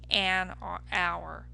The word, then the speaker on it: hour: But when I say a house, it makes sense. But if I don't say a hour, right? We don't say a hour. Instead, what do we say? We say an hour.